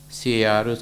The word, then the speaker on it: Carus: Paul Carus, C-A-R-U-S, Carus is the American pronunciation, European pronunciation is Carus, so whichever is it.